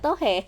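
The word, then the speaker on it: tò he: Barang yang paling sering dibeli adalah keramik desa Tan Ha yang terkenal dan tohe atau patung mainan gitu ya, bacanya tohe.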